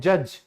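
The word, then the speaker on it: judge: चलिए फिर है न्यायाधीश जो कि न्याय करते हैं जज। तो इसमें भी डी के बाद जी है तो डी साइलेंट है।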